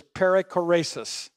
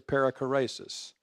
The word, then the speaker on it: perichoresis: And that Greek word is perichoresis. And here's how you spell it.